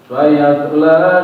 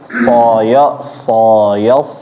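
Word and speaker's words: سيصلى: Nah, sa-nya jangan ditebelin. Tadi ketika membaca sa-nya sa. Dari awal udah tebel semua. Tapi tipis seperti biasa. Sa ketemu ya, baru habis itu ditebelin ketemu huruf so. Sayas. Bukan soyos.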